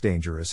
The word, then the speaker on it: dangerous: To pronounce dangerous, have in mind that the size of the syllable indicates where the accent or stress is. In this case, the accent is in the first syllable, corresponding to dean.